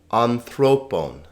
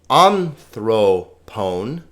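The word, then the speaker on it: ἀνθρώπων: a t fos tone on throp bone now notice not anthrone not anthron notice these these omegas are always long o sound Omicron are a omegas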